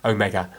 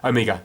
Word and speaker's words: Omega: But then obviously I know other parts of the world it would be pronounced Omega, or even quicker, like emphasis on the O, like Omega, Omega. But I just say Omega, that's how I say it, so you don't have